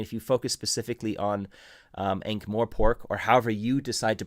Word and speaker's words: Ankh-Morpork: In my head, it's always been Ankh-Morpork, not Ankh-Morpork or whatever.